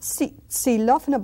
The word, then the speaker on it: xilófono: And then we have the X, X, and we say xilófono, xilófono. Not xilófono, but C, it's like an S sound, xilófono.